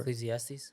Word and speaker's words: Ecclesiastes: 9:10 it's after Ecclesiast what how do you pronounce that word ecclesiastes 910 um I love how